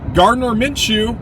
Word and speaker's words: Gardner Minshew: But Gardner Minshew, pronounced it right, or Uncle Rico.